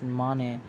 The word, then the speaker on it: Mane: the once honest cop Namdev Mane, pronounced as Mane, teams up with Carlos' girlfriend Shania, who is on the lookout for hidden diamonds and facing bankruptcy.